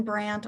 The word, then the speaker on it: Brandt: Did I pronounce that correctly? Yes, Your Honor. Kirsten Brandt on behalf of the state of Ohio.